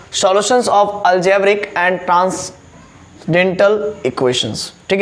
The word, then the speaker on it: transcendental: जैसे इसको लिखा हुआ ट्रांसकेंडेंटल, है ना, ट्रांसकेंडेंटल, है ना, लेकिन यहाँ पर CEN जो है कि साइलेंट रहता है।